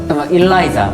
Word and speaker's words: Eliza: 해외 가면은 다른 거 나오잖아. 해외에서 뭐 하더라? 엘라이자. 일라이자. 해외 가니까 일라이자라고 일라이자. 해요. 그러니까 처음에 저희가 못 알아먹었어요. 못 알아먹어가지고 What? 우리는 계속 엘리자로 들었는데 네.